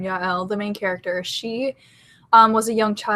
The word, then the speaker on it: Yael: And Yael, that's how I say her name, Yael, the main character, she was a young child who was in the Jewish concentration camps.